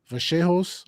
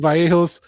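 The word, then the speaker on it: Vallejos: Josh Emtt versus Kevin Vaseos. I believe that's how uh Argentinians pronounce it. I was calling Vos.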